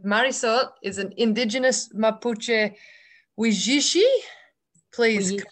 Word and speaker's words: Huilliche: Now you're going to have to help me with this pronunciation, because Marisol is an Indigenous Mapuche Huilliche, please correct me. Huilliche.